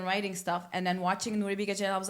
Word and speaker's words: Nuri Bilge Ceylan: watching paintings and writing stuff and then watching Nuri Bilge Ceylan. I was like, I need to slow down. Wait, also, can you pronounce his name for Americans who don't know him? Full name and Nuri Bilge Ceylan, not Nuri Bilge Ceylan.